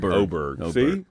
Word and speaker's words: Oberg: them both wrong it's how do you say auberg it's OBG oberg that's that's a dumb